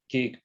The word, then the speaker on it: Kiet: My name is Kiet. I'm the CEO of Rotork. So just to introduce myself, my name is Kiet. You'll see the name spelled as K-I-E-T, but it's pronounced Kiet, as in the last bullet point there.